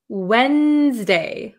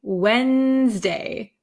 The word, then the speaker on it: Wednesday: least I pronounce it Wednesday Wednesday Wednesday so I kind of take the D sound out Wednesday okay I think that's